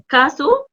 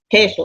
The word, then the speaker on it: queso: كاسو كو او اي اس او. طب ما هو اللي انت نطقتيه ده ما يتنطقش النطق اللي انت نطقتيه ده. مش الكو او اي بتتنطق كا. لا تتنطق كي.